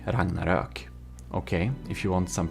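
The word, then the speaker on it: Ragnarök: he is Swedish and um it's called the Ragnarok. Ragnarok. Okay, if you want some pronunciation, there you know.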